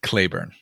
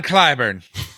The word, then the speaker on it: Clyburn: He said Clayburn. Yeah, maybe that's how he pronounces it. John Clyburn.